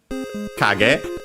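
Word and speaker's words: 影: It's technically a compound noun from kage, accented on the first syllable on its own, which means shadow, but also silhouette, figure, shape.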